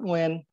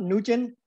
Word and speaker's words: Nguyen: Again, you know, my name is Nguyen, and it's spelled N-G-Y-E-N. It's not Nugent.